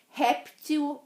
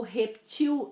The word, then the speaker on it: réptil: Existem as duas pronúncias. Réptil e répteis, ou reptil e reptis.